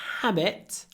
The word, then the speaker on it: habit: habit when you say habit habit remember you need to open your mouth before you pronounce the Habit not HIIT ha ha